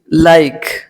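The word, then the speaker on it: like: जैसे एल आई के, लाइक, एल आई के, लाइक, ई का उच्चारण यहाँ नहीं करते।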